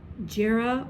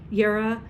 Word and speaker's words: Jera: that is known as, some people call it Jera or Ger, Yera. There's several pronunciations. There's an Old English version, there's an Elder Futhark, there's the Germanic pronunciation. I know it as Yer or Yera, but this is representative